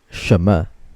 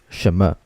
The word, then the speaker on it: 什么: 什么. Okay, so when reading 什么, remember that the letter N is silent. So we don't really read the letter N, although it's still written when you write the pinyin.